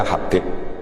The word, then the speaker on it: Habib: Yang benar itu bacanya Habib.